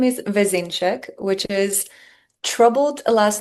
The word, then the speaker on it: Vezenšek: So help us out and let our audience know how to pronounce your surname properly. For sure. My last name is Vzeneek, which is troubled last name even for Slovenians.